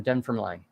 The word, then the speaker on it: Dunfermline: Drake means rubbish weather here in Dunfermline. Yeah. So okay. So there you go. It is Dunfermline. It is Scotland. Dunfermline. Okay, Dunfermline. Dunfermline. The extra syllables.